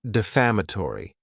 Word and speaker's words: defamatory: Next is the word defamatory. and this word has 5 syllables, and the stress is on that second syllable. Defamatory.